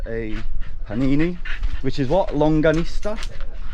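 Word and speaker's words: longaniza: Longanista? Longanista, I said it right the first time.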